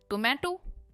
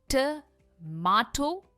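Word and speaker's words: tomato: इसकी सही प्रोनंसिएशन है ट माटो। यह यू की प्रोनंसिएशन है या फिर टोमेटो। यह यूएस प्रोनंसिएशन है। मा और मे यही डिफरेंस है। टमाटो या फिर टोमेटो पर टोमेटो बिल्कुल नहीं है।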